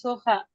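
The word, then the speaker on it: soja: উরুগোয়ায় উরুগুয়ায় পারাগুয়ায় তারপর এইটা এখানে আসতে দে সোখাচ এর মত উচ্চারণ করছিলেন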